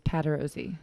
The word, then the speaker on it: Patarozzi: and i still think i'm saying your last name wrong every time i say it nope you're right it is pat rosie all right yes be embarrassing if i said